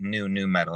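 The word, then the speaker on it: nu metal: and new fresh taste so I call it new new metal and how you spell it is you know n-u-n-u metal so [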